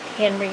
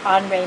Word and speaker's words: Henri: doing now is is henry matisse it's actually pronounced on ray matisse because he was french and you can look